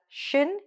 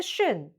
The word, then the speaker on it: -tion: Next, what we're hearing is that shin is very short. It's not on. Okay, even though there's an on in there, there's no on sound. Even though there's a T in there, there's no T sound.